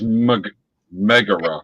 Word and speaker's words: Megara: I would just like to make sure that I'm pronouncing her name. Megara. It's Megara.